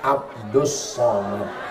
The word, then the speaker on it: Abdul Somad: allahusad Allah yang Somad kalau ini Abdus Somad tulisannya Abdul Somad tapi cara bacanya Abdus Somad jadi tulisan itu enggak mesti sama dengan bacaan Oh masa begitu lihat